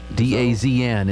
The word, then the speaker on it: DAZN: Jinx, Twitter, DAZN, DAZN, D-A-Z-N is pronounced DAZN, Twitch, Motor Trend Plus.